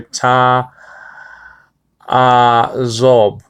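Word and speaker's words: תַעֲזֹב: Ta azob is spelled out, okay, tau with the patach, and that's an A class, so that's ta, and in biblical Hebrew. And then you have an ayin, that's a silent letter for the most part in biblical Hebrew. And then you have hatef patach, and it's still an a sound anyway.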